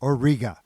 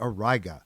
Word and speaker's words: Auriga: This is the alpha star in the constellation Auriga (aw-RYE-guh) or sometimes pronounced aw-REE-guh, which you can make out as a broad, misshapen hexagon with Capella at its top.